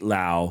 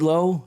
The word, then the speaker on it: Lowe: Brandon Lau and Nate Lau. Is it Nate Lowe? Nate Lowe and Brandon Lau. Is that correct? That's how it's said.